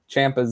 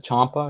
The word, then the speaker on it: Ciampa: And see, people always pronounce Tommaso Ciampa's name wrong. They pronounce it Ciampa. It's actually supposed to be Ciampa. I don't know why people pronounce it different.